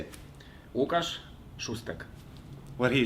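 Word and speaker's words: Łukasz Szóstek: Today we are so lucky to have Łukasz Szuszkat. No, I didn't say it right now. Łukasz Szusztak. Right. You say it. Łukasz Szusztak.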